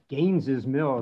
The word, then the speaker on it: Gaines's Mill: And I guess, you can't talk about Cold Harbor preservation without talking about Gaines's Mill, because, and yes, Gaines's Mill, as clumsy it is apparently how you say it.